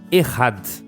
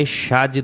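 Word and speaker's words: אחד: A primeira é errad. Não é echad, não. É errad, tá? Então se escreve echad.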